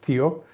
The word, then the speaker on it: THEO: So tell me um so the company that you represented you started um pronounced Theo.